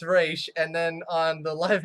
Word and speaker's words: Ra's: fine I actually know she specifically said that it's pronounced race not Roz and from what I